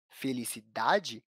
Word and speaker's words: felicidade: Felicidade apresenta a sílaba tônica na penúltima posição, contando do final para o começo da palavra.